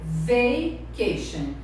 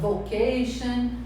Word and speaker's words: vacation: E olha bem a pronúncia, vacation. Às vezes eu ouço falando vocation. Não, o som de A, vacation.